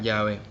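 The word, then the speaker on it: Yahvé: propio dependiendo del idioma ese nombre se pronuncia de distintas maneras en espacio en español es jehová aunque también se utiliza llave precisamente ya ve ya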